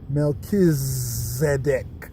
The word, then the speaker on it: Melchizedek: CH ized ek Tony Melchizedek not a CH sir as in church or challenge but CH as in Christ character okay but the pronunciation